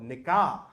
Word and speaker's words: nikah: He was like, that's not how you pronounce it. It's called nikah. And I was like, what does that matter? And he goes, because the way you pronounce it is offensive. The way I pronounce it is okay.